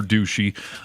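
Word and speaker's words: Doocy: so uh Fox News White House correspondent Peter douchy uh oh did I pronounce his name incorrectly no you got it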